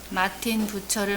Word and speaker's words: 부처: 유랑 생활을 하다가 스트라스부르크에서 마틴 부처를 만나 교제하였다. 유명한 사람입니다. 마틴 부처. 이 사람도 독일의 유명한 종교개혁자죠. 마틴 부처. 부스라고도 발음하고 부처라고도 발음합니다.